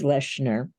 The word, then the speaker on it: Lechner: Nobody's ever pronounced it right since kindergarten, but it's Lechner.